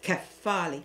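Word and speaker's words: κεφάλι: Of course, in Greek, it's pronounced as kephali, which is the head.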